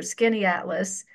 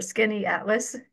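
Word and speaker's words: Skaneateles: a place called, well, I just abbreviated it here, Skinny Atlas. And if you saw the spelling, you could see why I just phonetically put it here, Skinny Atlas.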